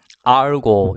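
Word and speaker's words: argot: 자, 첫 번째 단어 알고, 여기 T는 묵음이고요.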